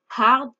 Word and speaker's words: hard: Maintenant, on va voir quelle est la différence entre hard et hardly. Première chose, avant de commencer, hard et hardly, on prononce bien le H.